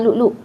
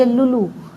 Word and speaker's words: lu'lu': Biasa kat Malaysia orang eja lulu. Kita pun baca lulu. Kurma lulu pernah dengar? Tu lu'lu' sebenarnya, bukan lulu. Cuma bahasa Melayu kan kadang apostrofi dibuang kan ejaan dia. Jadi orang baca lulu. Sebenarnya dia lu'lu'.